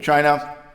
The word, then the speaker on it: Qin: here that the borders defining the whole of China changed from here though warring States Period we